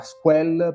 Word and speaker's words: Squale: E mi piace molto Squale, io amo chiamarla Squel perché ne abbiamo parlato anche in un video, è la pronuncia francese del marchio che adesso invece è di proprietà italiana, insomma chiamatela un po' come vi pare.